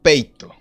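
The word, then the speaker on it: peitho: Entonces, persuadir, el término persuadir, proviene de un término griego que se pronuncia peito.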